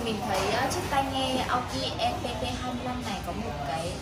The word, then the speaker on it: Aukey: Aoki đó, đọc đúng là Aoki.